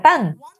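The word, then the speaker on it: 旦: este significa la mañana este carácter se pronuncia tan entonces una vez que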